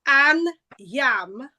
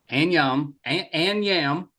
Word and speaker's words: Anyiam: So the phonetics is an yam even though it's spelled anam. Yeah. So that's trick. Any oyam an yam o.